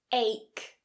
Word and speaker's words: ache: Ache, ache.